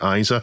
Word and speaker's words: ISA: Well, I say ISA and I get told off every time I say ISA. So today I thought I'd say ISA instead because this is the only other pronunciation I can think of.